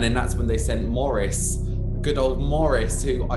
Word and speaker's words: Maurice: beast because i think his name is spelt maurice but they always because he's cockney they're calling morrison um yeah so morris